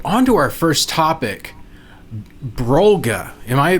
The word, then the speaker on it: Brolga: Okay, so on to our first topic, Brolga. Am I pronouncing that right?